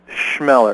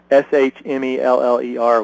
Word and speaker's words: Chmelar: Put an S in front of it. It's Chmelar. Chmelar. Okay, that's easy enough. Yeah, phonetically it'd be Schmeller would be a much easier way.